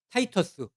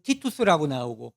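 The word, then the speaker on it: Titus: 있잖아요 그래서 자기 아들 타이터스 이제 그 발음에 따라서 어디는 티토스라는 디도 장군이라고 나오는데 그 아들을 보내서 예루살렘을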